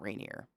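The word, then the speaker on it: Rainier: we it's I mean if you're being serious in Washington it's Mount rineer right I'm not saying I don't think I'm saying it with an accent Mount rineer but we used to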